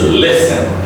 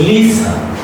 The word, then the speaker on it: listen: Next is listen. Listen. Don't say Lisa. Lisa. Just wrong pronunciation.